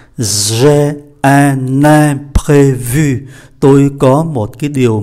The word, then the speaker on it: imprévu: Je suis vraiment désolé, mais j'ai un imprévu.